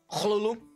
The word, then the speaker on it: Cthulhu: once read that uh Lovecraft specified in the letter that it's actually supposed to be pronounced pardon me for the sound Hulu because it's technically supposed to be unpronounceable by human anatomy what does it be